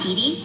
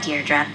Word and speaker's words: Deirdre: in it or something hi Didi Deirdre I know it's got that tricky second syllable but I figured it out by age two don't give up you'll get there sorry Hi Deirdre hey now someone's getting